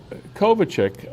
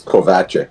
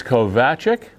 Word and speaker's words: Kovachik: Loud and clear, and it's Kovachik, but you say it like I put the emphasis on the wrong syllable. everybody does. Everybody does. So it's Kovachik?